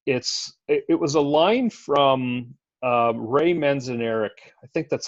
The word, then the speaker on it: Ray Manzarek: It was a line from Ray Manzarek. I think that's how you pronounce his name.